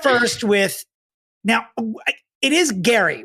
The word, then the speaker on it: Gerry: I'm already Let's start first with, now, it is Gerry, right? Like I keep saying Gerry, correct. but it's spelled Gerry, but pronounced Gerry.